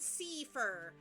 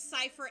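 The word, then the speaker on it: Seifer: scii I don't know I've seen it pronounced both cyer and seir I don't think there is a correct pronunciation for his name CU I have seen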